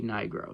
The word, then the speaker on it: Nigro: All I'm going to say is, instead of Nye, pronounce it Knee, and then put the other part of his last name together, and you get a racial slur.